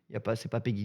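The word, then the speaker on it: PEGI: se prononce Peggy 12.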